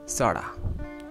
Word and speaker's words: sorta: इसकी pronunciation sorta।